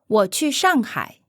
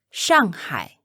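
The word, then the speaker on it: 上海: literally means on sea once again pay special attention to how it's pronounced in Mandarin and avoid saying it in an English accent say I'm going to Shanghai War Chu Shanghai Shanghai say I'm going to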